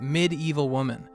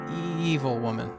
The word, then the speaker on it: Evil Woman: right quick question guys I used to think this song was called midevil woman right because if you hear the chorus evil there's an extra syllable up front you think it's like Med but it's not it's Evil Woman um so I'm wondering